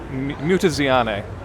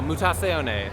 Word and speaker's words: Mutazione: It's Mutazione. Mutazione. Pretend it's like a kind of a fake Italian word. So Mutazione.